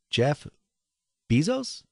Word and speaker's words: Jeff Bezos: on is and i always have a problem pronouncing his name jeff bezos yeah right i got that right and elon